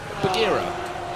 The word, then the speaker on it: Buggyra: Well, we spoke to Alia Kolak, and she said BUGGYRA. She said that's and right. I spoke to Adam Alako, and he said BUGGYRA.